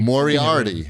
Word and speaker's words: Moriarty: name pronounced i've only moriarty moriarty like like the like like a sherlock holmes guy like the villain from sherlock holmes yeah like the hound